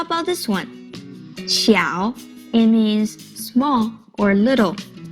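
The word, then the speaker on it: 小: character easy right now how about this one xiao it means small or little did you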